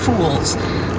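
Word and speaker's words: fullz: Rings gain access to there's a word spelled f-u-l-l-z and pronounced fools what does that refer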